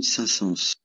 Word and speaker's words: Saint-Saëns: Charles Camille Saint-Saëns.